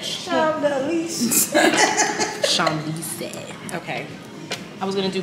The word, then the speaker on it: Champs-Élysées: How do you pronounce that? Champs-Élysées. Oh, Champs, yeah. What did we say? We said Champs Elysees.